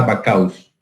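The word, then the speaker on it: Backhaus: Entonces, cuando vean esta pinza que tiene cuernos, acuérdense de la vaca y le aumentan la us y será Bacchaus. Se dice así, pero se escribe de otra forma.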